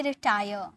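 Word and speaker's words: retire: अवकाश पाना यानी कि रिटायर रिटायर टायर र का साउंड साइलेंट में होता है ठीक है वापस आना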